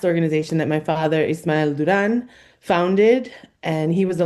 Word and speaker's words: Durán: We do try to stay true to our Spanish pronunciation, both in our name as an organization and me as an individual. So it's Garaje Cultural in Spanish.